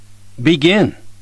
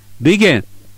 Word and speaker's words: begin: 部分があります例えば始まるという意味の BEGIN という単語は後半の E のところにアクセントがあり BEGIN と発音します決してビゲとは言いませんアクとは単語